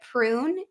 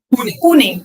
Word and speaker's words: Pune: Do you say it prune India or how do you say it? Pune.